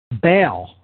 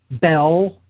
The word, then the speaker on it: Baal: Baal, the god of the dark occult world, named after so many things. Phonetically, the name Baal can be rendered Baal or Baal, Baal, Bell, Bill, or Bull.